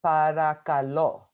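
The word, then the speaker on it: παρακαλώ: So the way you pronounce it is parakalo.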